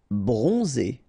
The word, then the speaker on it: Bronzé: Bronzé, so O-N, on, and then Z, it's really pronounced like Z.